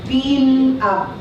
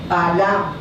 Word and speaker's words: Balaam: Ang pronunciation sa Hebreo ay Bilam. Bilam. Okay, correct? Bilam. Para sa kanila, Bilam. Sa atin ang spelling, hindi tama, pero ang pronunciation naman sa atin, Balam. Pero sa kanila, Bilam. So, tawagin natin Bilam. Si Bilam, tinawag ni Balak.